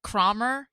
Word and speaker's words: Cromer: Rich Morikawa, Krista Lorenz, Paulina Cromer, not Kramer, but Cromer, unless it's pronounced Kramer, but spelled Cromer, Jessica Dunnigan, James L.